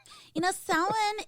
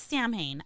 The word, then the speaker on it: Samhain: Samhain is like Arkansas. You should not. Why do we have to pronounce it like that? It's Samhain.